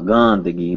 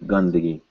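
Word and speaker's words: गंदगी: So we look it up in the dictionary and yep, it's an N sound. So this is Gandagi. Not Gandagi, but Gandagi. Right here.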